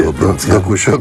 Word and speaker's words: Dokushô: Como buenas noches, sí, Dokuso con acento en la O, sí.